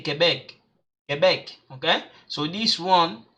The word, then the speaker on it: Québec: But I'm gonna, when we do the sound, I'm gonna show you guys exactly how you pronounce them. Okay, in case you don't get it. So we say Quebec, Quebec.